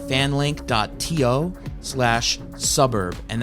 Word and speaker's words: svbrb: link dot to slash suburb and that's spelled the word suburb but swap out the u's for v's so it says svbrb so that's fan link